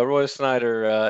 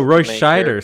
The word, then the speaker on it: Roy Scheider: oh it's a Royce Snyder Warner yeah yeah Roy Snyder you know Roy Scheider sorry I pronounced his name oh oh oh and there